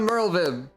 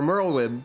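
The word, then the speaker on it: Merlwyb: nautical metaphors well done Merle Viv or merlweb because people pronounced your name not with a V sound last time I think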